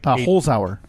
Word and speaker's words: Holzhauer: It's Holzhauer. Holzhauer, okay.